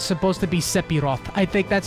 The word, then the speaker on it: Sephiroth: Isn't it Sephiroth, not Seph, like with an F? It's a PH sound because it's supposed to be an F sound.